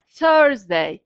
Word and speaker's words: Thursday: Thursday, bakın şu TH sesini dilinizi dişinize sürtüp çıkartıyorsunuz. Th. Siz de deneyin. Th. Thursday.